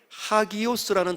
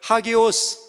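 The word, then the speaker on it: ἅγιος: 헬라어 A가 아 발음인데 이 쉼표가 요렇게 바르게 되어 있지 않고 쉼표가 거꾸로 이렇게 세워져 있으면 아 발음이 아니라 하 발음입니다. 그래서 하기오스라고 발음이 되는 거죠.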